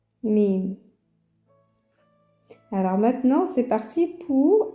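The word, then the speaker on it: ميم: Ça correspond à la lettre M en français mais dans l'alphabet mim ça se prononce comme ça mim.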